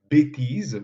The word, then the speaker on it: bêtise: Par exemple, bêtise, qu'on prononce avec « et » fermé, s'écrit avec un accent circonflexe comme s'il s'agissait d'un « et » ouvert. Pourquoi? Parce que le mot bêtise est refait directement à